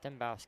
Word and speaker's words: Dembowski: So it's if we're pronouncing it correct, is it Dembowski? Yeah, Dembowski.